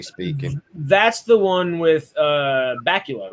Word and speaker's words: Bakula: That's the one with Bakula, right? Or however you say his name. Bakula, yeah. Okay. Bakula like Dracula, yeah.